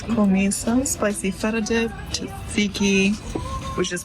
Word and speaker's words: tzatziki: That's Komissa, some spicy feta dip, tzatziki, which is pronounced?